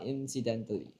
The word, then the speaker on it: incidentally: How do you spell incidentally? Okay. Anyone else apart from Zizazo want to try? Okay, Yao also want accidentally? No. Okay, if you pronounce this syllable, it's in. Okay, not eh.